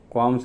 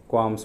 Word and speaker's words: qualms: क्वाम्स है ना, QUALMS, क्वाम्स बोलते हैं इसको, प्रोनाउंसिएशन क्वाम्स है।